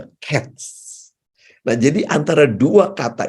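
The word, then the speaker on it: קֵץ: kain lalu kesudahan itu menggunakan huruf qts dibacanya cats Nah jadi antara dua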